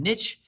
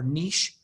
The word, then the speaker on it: niche: we did habitat in niche yesterday or niche it can be pronounced either way no neither way is wrong and today we're